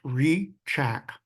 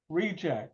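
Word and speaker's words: Hricak: c a k believe it or not it's pronounced reack reack okay it's a cze of Slovakian name okay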